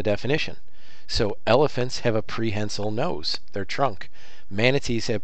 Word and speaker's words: prehensile: And if you've never heard it said out loud, it's pronounced prehensile. Sometimes I hear people say prehensile. I won't correct you, but prehensile is how it's said.